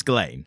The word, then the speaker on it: Ghislaine: It's Ghislaine. Like, that is, yeah. But it's silent S.